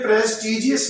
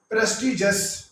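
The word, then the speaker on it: prestigious: है प्रेस टीजीएस प्रेस्टीजियस यह प्रेस टीजीएस नहीं है बल्कि यह है प्रेस्टीजियस पृष्ठिय जस्ट ये कहते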